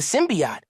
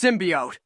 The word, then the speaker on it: symbiote: whole crisis with the symbiot they're literally based in New York for sake it's pronounced symbiote well thanks for bringing